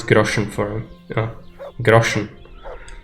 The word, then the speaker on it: Groschen: It's how the people in the game pronounce it. It's kind of difficult to translate a word like that to English, I imagine, so... It sounds really different, but in Czech it's grosze.